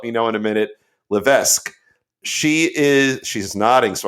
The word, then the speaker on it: Levesque: right you'll let me know in a minute Levesque she is she's nodding so I got it